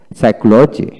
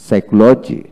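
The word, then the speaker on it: psychology: যেমন ওয়ার্ড এর মধ্যে পি এস, পি এন, পিটি, এমপি পাশাপাশি থাকলে এক্ষেত্রে পি এর উচ্চারণ সাধারণত হয় না।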